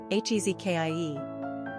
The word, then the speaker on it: Hezekiah: Pronunciation, Hezekiah.